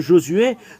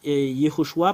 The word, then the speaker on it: Yoshua: qui pri Yoshua prie Josué ou Joshua ou Joshua ou Yeshua nous allons voir quelle est la raison pour laquelle c'est faux tout ce que vous avez prononcé nous allons l'effacer c'est sur quelle partie qu'on va effacer nous allons mettre ici Yoshua parce que c'est c'est vraiment la signification et il y en